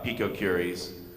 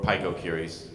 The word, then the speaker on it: picocuries: And to that extent, I want to highlight that in the bill, the language is actually for picocuries, or picocuries, it's pronounced both ways.